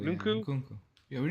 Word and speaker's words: Nkunku: How do you pronounce that? Ooh. Kunku or Oh, Nunku? Nkunku, yeah, Nunku? Nkunku.